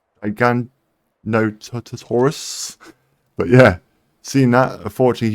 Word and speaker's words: Giganotosaurus: Oh, we also met the Gigantosaurus. I think that's how you say it. Giganotosaurus.